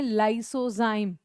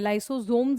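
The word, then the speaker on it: lysozyme: है जिसको कहते हैं लाइसोजाइम। ठीक है? लाइसोजाइम। मैं लाइसोजोम्स नहीं बोल रही हूं। हां। लाइसोजोम्स नहीं कह रही हूं। मैं क्या कह रही हूं? लाइसोजाइम।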